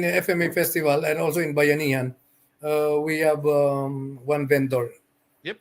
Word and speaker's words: Bayanihan: at the, how do you pronounce the first and the Bayanihan? Is that right? Bayanihin.